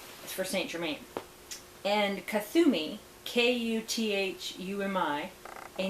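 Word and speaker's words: Kuthumi: ray of freedom is for st germain and kathumi k-u-t-h-u-m-i a name from the incarnation as a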